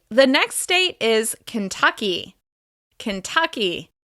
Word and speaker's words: Kentucky: Kentucky. This state is stressed on the second syllable.